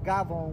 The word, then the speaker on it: gavone: from the official dictionary of hardcore italians uh gavon spelled c-a-f-o-n but pronounced gabon with a g one who eats a lot